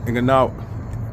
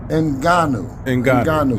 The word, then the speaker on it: Ngannou: Did you see the Fury versus Francis Ngannou? Did not. I seen it. I seen. Shout out to, let's pronounce his name right. Ngannou, because he deserves that, because he put on a hell of a performance, Skip.